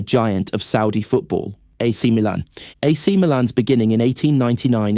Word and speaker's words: Milan: Milan's English influence is so deep that the club's name is still pronounced the English way, Milan, not Milano.